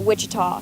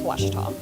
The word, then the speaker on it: Ouachita: for was Baptist University back in Texas everybody pronounces it witch but really it's was was how would you pronounce it was it's